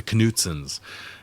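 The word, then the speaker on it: Knutsens: here he's working for the kutsin pronounced the canens and they're looking for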